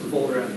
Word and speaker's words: Wohlrath: Did I pronounce that right? Wohlrath? Volrath, yes.